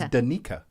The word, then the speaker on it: Danica: We've been saying Danica, Frenching it out. Danica. It's Danica. Danica. It's Danica, but my mom went the other way. She was like, this is the KZN pronunciation.